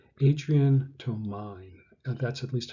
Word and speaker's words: Adrian Tomine: Here's a page from an artist called, and I always have trouble with his name, Adrian Tomine. That's at least how you spell it.